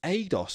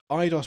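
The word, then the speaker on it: Eidos: the name idos idos someone kept telling me it was pronounced adidos I was like I don't think it is but so idos Montreal Studio head David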